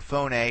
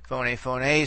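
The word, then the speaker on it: φωνή: You remember phoné is accent in the last syllable. Okay, and therefore phoné, that accentuation pattern is basically preserved throughout the forms.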